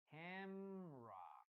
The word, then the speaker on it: camera: about this is that it only has two syllables. Syllable number one, ham, ham. Syllable number two, ra, camera, camera. Teacher, and what happens with the letter E? Well, it doesn't sound. Camera.